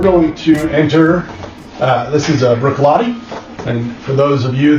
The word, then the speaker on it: Bruichladdich: We're going to enter, this is Bruichladdich, and for those of you that are not Scotch aficionados, if you see this crazy word, Bruichladdich, that's pronounced Bruichladdich.